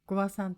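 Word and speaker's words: 5和算: にかく話すときは 5 和算と発音します。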